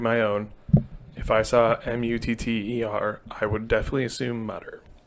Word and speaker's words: Mutter: So I believe it's a German name. It's Mutter. A lot of people actually call it the Mutter Museum because that would be